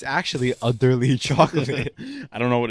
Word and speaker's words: Udderly: oh, wait, it's actually spelled utterly. Yes. It's UDDERLY. So I'm not even wrong for pronouncing it like that. It's actually utterly chocolate.